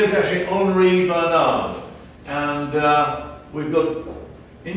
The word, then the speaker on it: Henri: Yeah, it's actually French, so it's pronounced Henri. Henri.